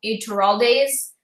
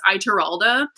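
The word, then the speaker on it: Ituralde: think a lot of those are actually Rodel Iturralde's forces, and that, but he thought that they were all Matt's, or he thought they were all Tom Marilyn's.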